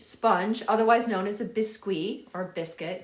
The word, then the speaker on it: biscuit: It's a French sponge, otherwise known as a bisque or biscuit. It's spelled biscuit, but it's pronounced bisque.